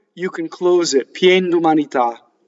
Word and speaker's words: d'umanità: So, d'umanità. Notice how the whole thing falls like a whole bunch of dominoes to the last syllable. Dumanità. All single consonants, M's and N's, okay?